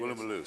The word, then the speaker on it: Woolloomooloo: Woolloomooloo, so I knew I was pronouncing it.